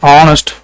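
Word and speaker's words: honest: அதுக்கப்புறம் அண்ட் ஆனஸ்ட். ஆனஸ்ட்ங்கிறது இந்த அச்சு வந்து சைலண்ட் ஆகும். ஸோ அப்போ ஆனஸ்ட் இப்படி தான் நம்ம ப்ரொனவுன்ஸ் பண்ணுறோம்.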